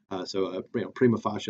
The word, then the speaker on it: prima facie: Ross very frequently uses this term, this idea of prima facie duties. Sometimes people say prima facie or prima facie or whatever. Honestly, it doesn't have a correct pronunciation because it's medieval Latin, right?